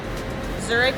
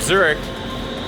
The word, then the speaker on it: Zurich: But, and also I think it helps to know how to pronounce the city you're going to in your local language. Because, again, Munich is not Munich, and Zurich is not Zurich. Trust me, it's not.